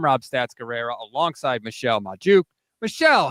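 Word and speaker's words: Magdziuk: I usually say Michelle Majuk, but I'm listening to the show and I hear... My name is Michelle Majuk. I've been saying it wrong.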